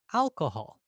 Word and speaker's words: alcohol: Notice how that first syllable, Al, it has a length to it.